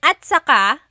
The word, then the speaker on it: at saka: And then, at saka, technically it's spelled at saka. But when it's pronounced, remember the TS combination, it makes that ch sound.